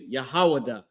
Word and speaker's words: Judah: Tribe of Judah, the way you pronounce Judah is Yahawadah, right?